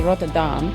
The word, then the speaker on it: Rotterdam: Just like here, I live in the Netherlands, I live in Rotterdam, is the way most English-speaking people pronounce it. It's actually Rotterdam.